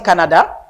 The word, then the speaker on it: Canada: Gardez pour ce qu'a dit Canada, Canadian. So pas garder staircase là. So pas garder staircase là. Ou connaît premier syllabe là, OK? La stress.